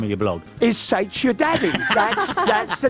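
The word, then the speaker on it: Saith: It's spelled S-A-I-T-H. S-A-I-T-H. S-A-I-T-C-H. We still can't spell either of us. Saich. Is Saich.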